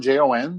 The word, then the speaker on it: Jon: My website is John, Jon, there is no H. It is silent and invisible.